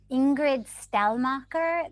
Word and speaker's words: Ingrid Stellmacher: to our next speaker, Ingrid Stellmacher, the founder and president of the Menach Foundation. And I apologize if I didn't pronounce either of those names correctly. Perfect, you did it perfectly.